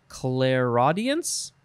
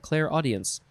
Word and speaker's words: clairaudience: It is, I guess you would pronounce it, clairaudience? Clairaudience. So it's Claire, C-L-A-I-R, and then the word audience, all one word.